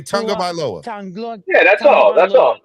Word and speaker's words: Tagovailoa: Yeah, and next time I'll pronounce very good that name. Say Tagovailoa.